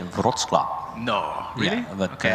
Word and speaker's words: Wrocław: Then we have this beautiful car of Rocklaw, and I'm not sure if I pronounced it correctly. I heard probably not. Jegor say Wrocław.